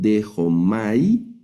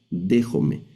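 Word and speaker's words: δέχομαι: Aquí al final está el diptongo, entonces lo vamos a leer dejome, no leemos dejomay, sino que este diptongo lo vamos a pronunciar como ejome. Se lee la esta palabra en esta palabra griega, déjome.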